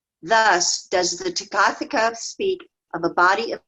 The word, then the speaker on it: Tathagata: So the first syllable is Tathagata. ta, and then ta, which is stressed. That's where the accent is. Tathagata. Tathagata. Okay. So that the H isn't pronounced. It's just an accent letter.